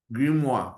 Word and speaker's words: Grimoire: Grimoire. I think it's French kind of thing.